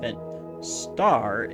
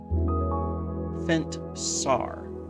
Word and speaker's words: Fentsar: It's not Fentstar. It's Fentsar. Yeah, that's it.